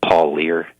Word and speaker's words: Parlier: North Carolina and Ellis Parlier was from Midland North Carolina Riley was just 21 and Ellis was just 19 and I think the Ellis's last name is pronounced Paul leer its belt PA are